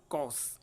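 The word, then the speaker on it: course: कोर्स और कोर्स, इनका भी प्रोनाउंसिएशन होगा वो एक ही है, कॉस, ठीक है ना, अपन कोर्स बोलते हैं लेकिन र साउंड जो है वो यहाँ पर साइलेंट रहता है, ठीक है।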